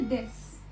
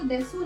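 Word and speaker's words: です: आपको इसमें याद रखना है यू साइलेंट है. अब इसको देसू नहीं प्रोनाउंस करेंगे, आप इसको देस प्रोनाउंस करेंगे.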